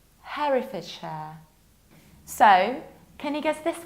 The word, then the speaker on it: Herefordshire: So here, we will not pronounce this one like hair, but like Harry. This is Herefordshire, Herefordshire.